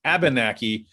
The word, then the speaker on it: Abenakee: I knew I would say it wrong. I always put an R in there. Abenakee Club up in Maine.